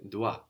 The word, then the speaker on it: dois: from je dois and this is spelt the OIS do I so we end in an S but we don't hear it dois the word fourth thing